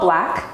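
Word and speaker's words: Blaque: the name of well it's called black um and it's spelt b-l-a-q-u-e no um and it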